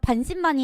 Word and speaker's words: 반신반의: 왜냐면은 약간 반신반의 했나 봐요. 반신, 반의. 여러분 이거 두 개 다 길게 발음하는 거 아시죠?